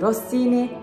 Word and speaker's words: Rossini: Ve şanslıyız ki Rossini yazıldığı gibi okunur. Yani bizi Mozart ya da Chopin kadar zorlamayacak.